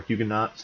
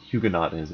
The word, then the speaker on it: Huguenots: French sugar nose or Huguenots either pronunciation is fine it's like the Augusta and Augustin distinction and human though is